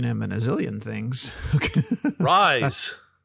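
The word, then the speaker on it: Rhys: I don't know who Reese Iffens is. Oh, you've seen him in a zillion things. Rise. Rise? Oh, yeah. Sorry, Rise.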